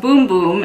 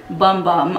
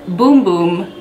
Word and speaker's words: Bum Bum: brazilian bum boom cream it is pronounced boom boom in portuguese it is not pronounced bum bum I know a lot